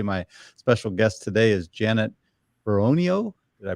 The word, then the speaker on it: Beronio: one here today my special guest today is Janet peronio did I pronounce that right that's right she's with the